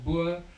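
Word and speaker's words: Boer: Bur Bour or Bur as English people would pronounce it.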